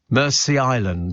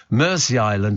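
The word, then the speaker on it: Mersea Island: but this Blum Island pronounced Mercy Island like Mercy Mercy Island says Lewis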